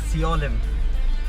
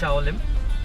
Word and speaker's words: Siolim: I am wrong because I was pronouncing Shaolim as Siolim. Not just me, but my friends as well, including someone who lives in Shaolim. So, yeah, now I know it's Shaolim, and I'm not sure